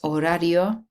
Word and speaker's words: horario: H is silent, horario.